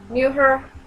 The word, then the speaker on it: mujer: Mujer, I don't know if that's how you say it. Mujer? Mujer? I know the J has like an H sound in Spanish.